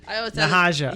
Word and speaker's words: Nahaja: Nahaja. Yeah, there you go. Just use it. It's just one special 3 syllables. You just you gotta lift it up.